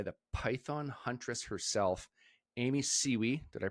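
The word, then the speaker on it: Siewe: I am joined by the Python Huntress herself, Amy Siwi. Did I pronounce that last name right?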